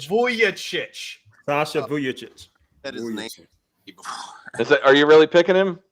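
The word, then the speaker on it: Vujačić: Price and that is definitely tempting but Sasha buevich is still available and since he carried Kobe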